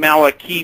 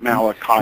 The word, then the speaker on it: Malachi: name he actually he he actually pronounced his name Maliki Martin but he didn't mind if people pronounced it Malachi Mal okay uh we